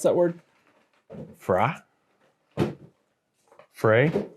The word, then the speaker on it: Frey: annunciator Frey f r y how do we pronounce that Frey for the win Frey Frey Ranch Frey Ranch